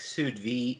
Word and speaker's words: sous vide: It sounds almost like sous vide. Is that how you say it for when you make meat at low temperature? You got it right.